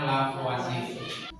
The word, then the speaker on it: Lavoisier: Tulisnya Lavoisier, bacanya Lavoisier.